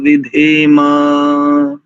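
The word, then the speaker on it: विधेम: तस्मै देवाय अ विष विधे मा विधे मा विधे नहीं करेंगे कई बार हमने भी ऐसा देखा है कि विधे हविशा विधे सा उच्चारण करते हैं मकार भी पूरा है ह विष विधे मा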